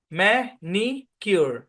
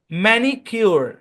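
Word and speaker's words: manicure: বেশি পরিচিত আছেন হ্যাঁ মেনি কিউর মেনি মে নাই কিন্তু না ম্যানি মাল্টিসিলেভিক ওয়ার্ডে আই এর সাউন্ড ই এরকম হয় তাই না ম্যানি কিউর ম্যানিউর বলেন আমার সাথে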